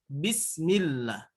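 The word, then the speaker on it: بسم الله: Hai Mbak by Wook Iya mbak bi bu bismillah bismillah jadi jangan lebah-lebah itu ya karena memang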